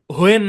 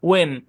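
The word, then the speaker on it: when: তারপর দেখেন শব্দের শুরুতে ডাব্লিউ এইচ থাকলে এইচ সাইলেন্ট, এটা আমরা সেকশন 4-এও পড়ে আসছি। যেমন হোয়াট, ওয়েন, হোয়েন না ওয়েন, উইচ, এইচটা উচ্চারণ করে পড়তো ওল্ড ইংলিশে, এখনো অনেকে পড়ে, কিন্তু আধুনিক ইংলিশে এটা এইচটা সাইলেন্ট থাকে।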